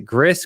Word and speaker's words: Gris: that did is it Gris Greece I never know Dan reviewed it years ago but I believe it's Greece Greece yeah I think it's pronounced GRE right but it looks like G right yes I believe